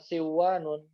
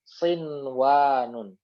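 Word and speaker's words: صنوان: Jadi bacanya bukan siwanun tapi sinwanun gitu ya. Dibacanya sinwanun bukan siwanun.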